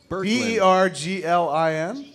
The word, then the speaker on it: Berglin: Spell it. B-E-R-G-L-I-N?